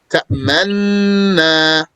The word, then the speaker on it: تأمنا: So the origin is to say تأمنuna with a dhamma. And when pronouncing a dhamma, the lips pucker. It is recited without the dhamma and instead by merging the two noons. تأمنا. The ishmam here is to pucker the lips without pronouncing the dhamma as a sign to the dhamma that would have been there.